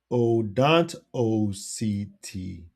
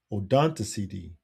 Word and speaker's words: Odontoceti: They are called toothed whales, or now I need to get the pronunciation thing. Where is it? Oh, there it is. Odontoceti. Odontoceti. Odontoceti.